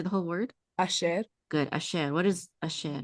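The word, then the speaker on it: אשר: And then say the syllable. Sher. Good. Say the whole word. Asher.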